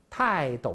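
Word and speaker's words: 泰斗: 所以大家注意啊，泰斗的斗都要读作三声。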